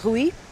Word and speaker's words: Rui: so we have uh ruie yes ruie that's the good good pronunciation of your name yes okay ruie Silva hi um all